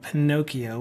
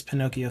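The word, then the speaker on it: Pinokio: so if you download a thing called Pinocchio which is spelled p i n o k i o um for your OS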